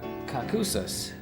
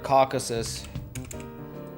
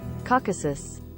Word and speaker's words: Caucasus: that these mountains are called the uh uh kakusas that doesn't sound right hold on caucuses caucuses that's it we're gonna have Google pronounce that word Caucasus uh pronunciation caucuses you guys get that Caucasus Caucasus Caucasus Caucasus it's it's it's not a